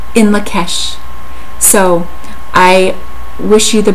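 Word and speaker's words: In Lak'ech: And what it is, it's pronounced in Lakesh.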